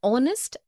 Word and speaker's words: honest: also an air an honest an hour because the words air honest an hour begin with a vowel sound as the initial consonant H is not pronounced article one we use